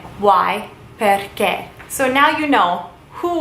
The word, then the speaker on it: perché: Perché. Why? Perché. With a little accent on the E. Perché. Why? Perché.